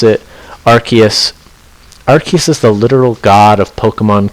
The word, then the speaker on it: Arceus: know you we learned that that's how you pronounce it Arceus arc uses the literal god of Pokemon created all Pokemon